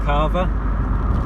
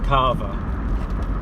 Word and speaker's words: Calver: always known it as Carver. It is spelled C-A-L-V-E-R, so it has got an L in it, but I've always known it as Carver, like it's a silent L, but she's convinced it's